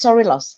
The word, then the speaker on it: Sorilos: So it's actually it's Sorilos, exactly.